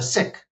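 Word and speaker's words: Sikh: He was mixed race, but he had become a sik a sik is actually the pron correct pronunciation. A sick Hindu.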